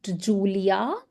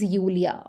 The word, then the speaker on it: Julia: So if somebody's um name is this this is not Julia this is Ulia. Okay. So J has to be always pronounced like Y.